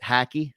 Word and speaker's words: hockey: yeah Connecticut region where they actually do say it hacky hockey oh I know I know exactly it's a weird pronunciation and this is an